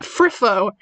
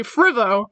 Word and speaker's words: Frivo: It's pronounced Friffo. That is the canonical pronunciation of Friffo, but I say Frivo with a V. It's not a V, it's a TH, it's Friffo.